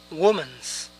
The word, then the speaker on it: women: Tal vez diríamos women's. Pero esto es incorrecto. Este es el plural de woman. Pero ojo, no se pronuncia woman, sino women, women. Woman, women. Yo digo, I say.